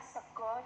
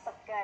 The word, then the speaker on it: sego: Ini bacanya sego jamblang, bukan sega ya.